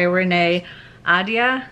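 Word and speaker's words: Renée Ahdieh: in the mist by renee ada i think is actually how it's pronounced and i'm unfortunately only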